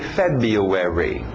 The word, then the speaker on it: February: como se o não estivesse aí tem a pronúncia FEB february january febuary March April aquele l no final April mayi